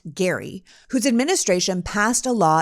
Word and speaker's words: Gerry: from Massachusetts governor Elbridge Gary spelled Jerry but pronounced Gary whose administration passed a law in 1812 to